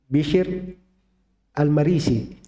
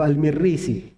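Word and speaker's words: بشر المريسي: Bishr Al-Marisi. Begitu bacaan benarnya ya. Kan sering ada yang membaca Bishr Al-Marisi atau Al-Mirrisi. Nah, itu keliru itu cara baca itu.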